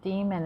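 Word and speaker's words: daemon: a normal computer program yep that's how you say it demon it says a programmer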